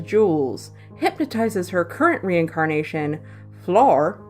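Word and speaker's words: Flor: hypnotizes her current reincarnation floor spelled FL Oh arm pretty sure that's how it's pronounced to get her to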